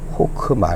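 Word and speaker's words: חכמה: 이거 하나 하는데도 시간이 걸렸네요 그래서 이게 여기 호크마 라고 한 겁니다 어휘 불의의 헬라 5 읽기만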